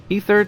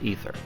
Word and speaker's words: Aether: Aether Channeler. I know most people say Aether, but I think it's pronounced Ether.